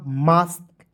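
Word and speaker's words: mask: उसके बाद एम ए एस के तो एम का म ए है देखिए ए एस के है तो इसका उच्चारण आस्क के रूप में करेंगे तो हो जाएगा मास्क ठीक है अब समझिए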